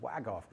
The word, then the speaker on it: Łagów: Łagów, because it's an L, that Polish L with a slash through it. Pronounced like a W, Łagów, because a W is pronounced like a V, right?